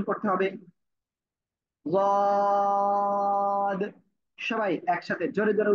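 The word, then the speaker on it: ض: আমি বলতেছি কেমন, জিহ্বার গোড়ার কিনারা উপরে মাড়ির দাঁতের গোড়ার সাথে লাগাবো, লাগিয়ে উচ্চারণ করবো। সিম্পল সিম্পল যে অবস্থায় আছেন এই অবস্থায় উচ্চারণ করতে হবে। ওয়াদ, ওয়াদ, ওয়াদ।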